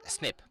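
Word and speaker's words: SNP: polymer phases what does that mean and it's pronounced usually as snip now we have the human genome decoded we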